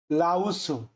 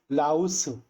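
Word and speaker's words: 라오스: ছুরি রাঙ্খা সুরিরাঙ্খা অর্থাৎ শ্রীলঙ্কা সুরিরাঙ্খা অর্থাৎ শ্রীলঙ্কা লাউসু লাউসু এখন আপনারা বলতে পারেন যে এটাকে আপনে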